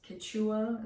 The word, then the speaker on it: Quechua: cool fabric and this wasn't expensive it was Quechua as well that's how you pronounce it but yeah a fleece for this